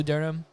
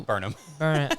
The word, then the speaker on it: Burnham: like Adam Sandler a little bit, or Bo Durham. That's not how you say his name. I'm just being a dick now. Burnham.